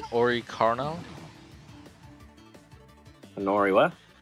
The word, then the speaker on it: Oricorio: Oricarno? Anori what? Oricorio. Can you try and pronounce it? Oricornio.